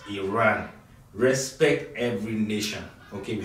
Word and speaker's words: Iran: of you who pronounce Iran as Iran you you heard the journalists say it's not Iran it's Iran respect Every Nation okay